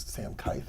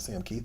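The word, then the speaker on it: Sam Kieth: I've been told his name is Sam Keith, not Sam Keith. I've been saying it wrong for years.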